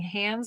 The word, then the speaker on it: Hans: Which, by the way, you may notice I'm saying Hans and not Hans Christian Andersen. And that's because in Denmark, it is pronounced Hans, not Hans. So, even though the movie Frozen would have you believe differently.